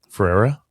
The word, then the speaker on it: Ferreira: Ferreira.